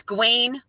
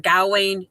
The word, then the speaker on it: Gawain: it's um you can it's gwain or gowain he's pronounced he can pronounce his name a couple different ways but yeah that was